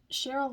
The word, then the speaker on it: Cheryl: through her website but cheryl lee harnish spelled like cherry instead of you know sh but it's cheryly